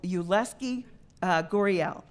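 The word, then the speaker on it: Yulieski Gurriel: is your Leske Guerrero I know it's you less key gory el and he's 30 now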